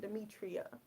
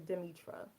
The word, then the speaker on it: Demitra: think that's probably when I started out saying Demetria instead of demitra but I I actually said Demetria a couple